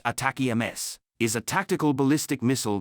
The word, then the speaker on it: ATACMS: enemy forces located on what is atacms atacam pronounced attack Ms is a tactical ballistic